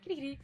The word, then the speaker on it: Kirigiri: Kirigiri.